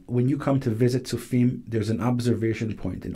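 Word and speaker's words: Tzofim: Your town, I'll get you to pronounce it, where could people identify whereabouts you're living? So my community is called Sufim.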